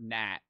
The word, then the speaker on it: gnat: Tell them to spell the word gnat. Like the bug. It's G-A-N-A-T. Because the G is silent, and they're just going to say N-A-T, and they're going to seem like a dumbass.